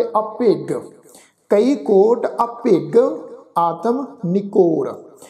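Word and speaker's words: ਅਭਿਗ: असल विच शब्द आ अभिज, पर इत्थे सत्संग गुरु साहिब ने गग्गा अखर लगाया होया वा जज्जे की जगह ते, इस शब्द का उच्चारण करांगे अभिग।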